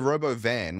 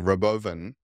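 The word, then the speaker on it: Robovan: robo van which he kept on calling Roven as a joke like you don't get on stage and announce your new product and and screw up the pronunciation of your of the name of the product he's like oh Roven reoven oh some people also call it the robo van haha and it's like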